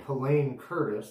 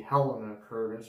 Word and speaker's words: Helene Curtis: just like there's a company named helene curtis that's how we pronounced it here maybe in other parts of the world of the world it could be helena curtis or something like that i don't know